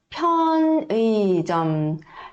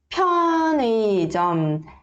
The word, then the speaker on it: 편의점: piup, também é uma consoante aspirada, tá? 편의점. Então, vamos ver quais são as consoantes aspiradas. 치읓. E depois 키읔. Tá? E o 티읕. E o 피읕. Perceberam que todas elas a gente vai pronunciar colocando o ar da boca e o ar tem que bater aqui na palma da mão, tá bom? 편의점. Aqui esse 의 não precisa se preocupar de querer ler 의, tá?